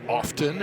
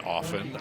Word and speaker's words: often: Such as often and often. I don't like often, but it's acceptable.